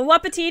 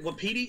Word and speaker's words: wapiti: A wapatiti? It was supposed to be, but I didn't get all everything. I think, is it wapiti? I don't know how to pronounce that. It's technically, you're saying it right, but I prefer wapatiti.